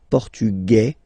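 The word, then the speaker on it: portugais: masculine form and The Feminine form okay masculine portug you don't pronounce the S feminine form portuges you pronounce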